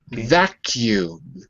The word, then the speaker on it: vacuum: Vacuum. Vacuum. Good. Before the U, there's always the sound Y. Vacuum. Vacuum. Oh, be careful. It's not wa. It's va.